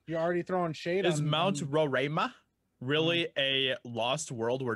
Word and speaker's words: Roraima: it's uh it's this thing called mount roraima roraima something like that pronounced that right they think it's roraima they think it robin you're already throwing shades mount roryma really a lost world where dinosaurs may still